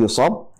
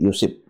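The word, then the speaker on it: يُصِبْ: sosok yang baik, ya yusib minhu, maka akan diberi ujian. Ya, ini ee cara bacanya bisa bifathi shad e yusab juga bisa bikasr shad. Jadi, yusib ya.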